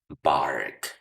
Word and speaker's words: bark: Otro ejemplo, supongamos que quieres aprenderte la palabra o el verbo ladrar en inglés, bark. Bark y dices, "Bueno, de acuerdo con su pronunciación casi suena como barco, ¿verdad?